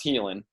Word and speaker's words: Haelan: l it's h AE lan so healing it's pronounced healing 951 dot-com and then use our discount code